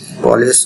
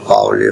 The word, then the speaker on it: পাউলি: কষেত্রে পলির বর্জনীতি বলি আসলে পলি হবে না পাওলি হবে বা পলিস হবে বুঝতে পারলেই হবে এক্ষেত্রে একই পরমাণুর দুটি ইলেকট্রন চারটি কোয়ান্টাম সংখ্যা কখনোই এক হতে পারে না। এটা হচ্ছে পাওলিস এর বর্জন নীতির সংজ্ঞা।